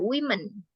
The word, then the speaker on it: women: Secara pronunciation dan secara huruf juga berubah. Ini cara bacanya women. Woman, women.